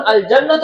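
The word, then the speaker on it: الجنة: লামের উচ্চারণ হচ্ছে না কিন্তু যখন আল জান্নাত পড়তে যাচ্ছি তখন লামের উচ্চারণ হচ্ছে এবার প্রশ্ন হলো কখন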